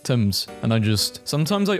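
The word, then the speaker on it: Thames: sometimes I'm reminded that the name of the river Tims is pronounced Tims and I just sometimes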